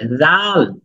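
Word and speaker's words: ذال: দাল খুব নরম হবে জাল জাল জাল জাল না জাল না জাল জাল এই দাঁতের আগাটা উপরের দাঁতের যে আগাটা আছে এটা জিহ্বার আগার সাথে মিশবে ঠিক সেম সা এর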